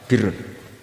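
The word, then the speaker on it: بِرّ: Ya kalau di isim fa'ilnya umumnya guru-guru kita baca barin, tapi untuk masdarnya, untuk kebaikan bacanya apa? Birrun.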